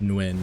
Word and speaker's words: Nguyen: It's different in the north than the south, but the way you gotta say it, the N is in the back of your throat.